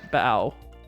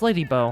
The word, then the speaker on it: Lady Bow: Um but welcome to the slap variety era variety hour starring Bao or Lady Bow. It's Lady Bow.